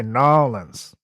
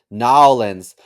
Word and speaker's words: New Orleans: It depends. Depends where you're from. I think if you're Oh, from there, they say Nolans. Nowlands.